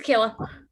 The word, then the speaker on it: Kayla: Kayla or Kyla? How do you say that? It's Kayla. Okay, good. Kayla.